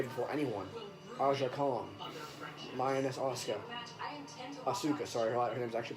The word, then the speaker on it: Asuka: Lioness Asuka. Asuka, sorry. Her name's actually pronounced Asuka.